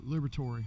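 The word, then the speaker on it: Liberatore: Oh, Liberatory.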